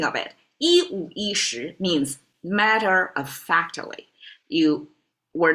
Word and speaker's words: 十: Shí retains the pronunciation, doesn't have the E problem because shí is a rising tone. It's already got in got its um tonal change.